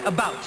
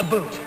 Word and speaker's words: about: French not American and I pronounce it about not a boot I can proudly sole